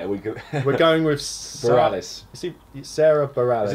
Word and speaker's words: Bareilles: We're going with Bareilles.